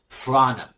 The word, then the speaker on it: front of: اوكي، front of بتتنطق بسرعه فرانا.